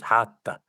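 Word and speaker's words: rato: She goes, Hata. And I was like, oh, Hata. And I was like, how do you spell that?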